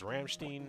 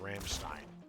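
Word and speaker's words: Rammstein: Yeah, the way I always was taught German is how you say the EI or how you say Steen or Stein depends on what letter does that end in.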